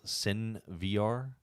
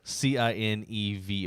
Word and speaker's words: CineVR: Yeah, there's an app called I think it's pronounced Sin VR. No, well, you're gonna have to spell it because people are gonna think it's porn. CINE. Like you mean SINVR? No, CINEVR, like cinema. Cine VR.